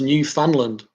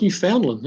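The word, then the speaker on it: Newfoundland: shall we call um Andy nickel haha it's pronounced New Finland I thought was New Foundland okay well you got to learn something every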